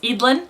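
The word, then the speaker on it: Eadlyn: and now their oldest uh whose name is idlin there's a lot of controversy on how to pronounce it but we looked it up and it's edlin she's going to have her own selection Y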